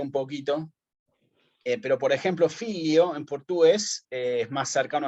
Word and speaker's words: figlio: Perdón, el filio de portugués es más cercano al filius del latín, digamos. ¿Y en ¿no? italiano? Figlio. Claro, figlio, claro. No, figlio. Se escribe figlio, pero se dice filio.